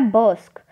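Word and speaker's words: brusque: जो हमारा अगला वर्ड है वो है बर्स्क। बर्स्क के स्पेलिंग है BURSQUE, बट इसको जो बोला जाता है वो क्या बोला जाता है, वो बोला जाता है BURSK, बर्स्क बोला जाता है, बट इसके स्पेलिंग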